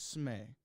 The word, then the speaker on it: Smee: It's Smee. Smee. So I go by Smee, but Smee. Uber's on this channel. Smee rhymes with tree, and because somebody compared